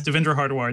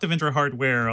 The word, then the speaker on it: Devendra Hardwar: Yes, Devendra Hardwar, not Devendra Hardware, although that would be really convenient.